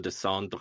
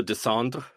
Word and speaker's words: descendre: There's like 4 extra visible syllables than there are in audible syllables in that French word. Oh, Descendre?